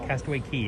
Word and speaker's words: Castaway Cay: Castaway Key is what that is. It looks like it says K, but the correct pronunciation is Key.